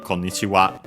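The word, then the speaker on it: こんにちは: So yeah, uh we use a generic konichiwa. Uh oh yeah, by the way, uh the accent technically is accented on the last uh syllable.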